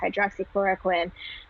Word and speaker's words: hydroxychloroquine: Yeah, so that's if you want the easy way to pronounce it, that is Plaquenil is the trade name for that. It's hydroxychloroquine.